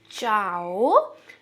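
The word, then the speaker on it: chao: चाओ, चाओ, ओके। च जैसे हम हिंदी में लिखते हैं वैसा ही होगा। चाओ, चाओ। हिंदी में च होता है, इंग्लिश में च होता है, वैसा ही है ये, चाओ।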